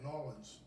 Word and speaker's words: New Orleans: in new orleans that's how you say it new orleans and my buddy out there at gnomes tavern